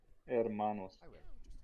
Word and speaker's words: Hermanos: Hermanos. You don't pronounce the H, by the way.